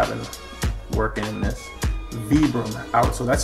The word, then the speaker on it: Vibram: Vibram outsole, that's how you pronounce that brand. It's not Vibram, it's Vibram.